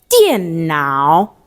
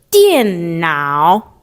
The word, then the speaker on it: 电脑: And how do we pronounce it? 电脑, 电脑, 电脑. All right? One more time. 电脑.